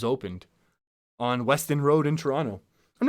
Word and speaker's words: Toronto: like a local also Toronto don't don't pronounce the second T although again Ben Affleck